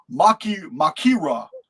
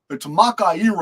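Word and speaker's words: μάχαιρα: The word sword in the Greek context is describing, it's pronounced makira. And for those of you who know Greek, maybe you can correct me, but it's makaira or something like that.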